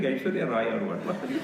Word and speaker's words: Aishwarya: I feel like Aishwarya Rai or what are you saying? Because the pronunciation is what? I first. Then Shwar. Aishwarya.